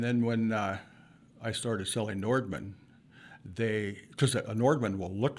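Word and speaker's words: Nordmann: I said, "It's a Nordman." Okay. So, and of course, they can't pronounce it. And it goes anywhere from Normans to Nordic to Noodlemans.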